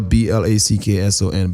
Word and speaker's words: Blackson: H A E L B L A C K S O N. Black son. Son of a black man.